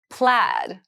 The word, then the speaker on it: plaid: next time bye plaid plaid plaid so plaid has a very interesting spelling there's an AI in there but it's pronounced plaid so plaid is a